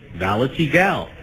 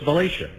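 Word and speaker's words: Valatie: I looked at the spelling, V-A-L-A-T-I-E, Valetigal, and now I know it's Valatia.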